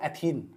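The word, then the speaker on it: ethene: चलो ना मुस्कुराते हैं, C2H4, इसका नाम हो एथीन। अरे इन की आवाज लंबे समय तक उच्चारण करो, अपने आप बताओ, इन निकलेगा, बोलो देखो एथीन, तुम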